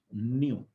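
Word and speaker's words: ν: यहाँ पे न्यू जो है फ्रीक्वेंसी, ठीक है ना, ये सिंबल जो है दिस इज न्यू, ये बोलते हैं इसको, सॉरी, न्यू से प्रोनाउंस किया जाता है, दिस इज फ्रीक्वेंसी।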